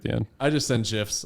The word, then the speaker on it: GIF: Like it's pronounced GIF.